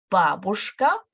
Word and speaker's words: бабушка: Бабушка, stress on the first syllable, бабушка, дедушка, внучка, и внук.